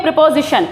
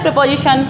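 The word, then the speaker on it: preposition: प्रीपोजिशन। यही तो बोला जाता है, प्रीपोजिशन। ठीक है, तो इसको प्रीपोजिशन नहीं बोला जाता, इसको जो बोला जाता है, जिसका जो सही प्रोनाउंस है वो ये है प्रेपोजिशन।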